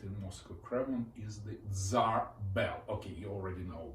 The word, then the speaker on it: Tsar: Just at front of the Senate building, we have got the gigantic cannon, Tsar cannon. By the way, word Tsar is the way medieval Russians pronounced Caesar, so that's a royal cannon.